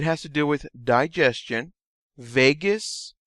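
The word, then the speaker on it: Vagus: to deal with digestion Vegas rhymes with anus and you use this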